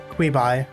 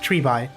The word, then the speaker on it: Treeby: Queeby. Oh, Treeby. Why did I pronounce the Q as a Q?